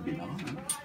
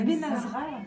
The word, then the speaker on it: Benazra: On peut prononcer Bénara. Non, mais c'est Benazra. Benazra. Lisez-le comme c'est écrit. B-E-N-A-Z-R-A. Benazra.